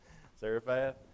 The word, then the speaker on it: Zarephath: How do we pronounce that, Michael? Zarephath.